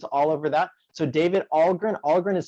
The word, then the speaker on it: Ahlgren: So David Ahlgren. Ahlgren is spelled Ahlgren. And it's pronounced Ahlgren like a smile.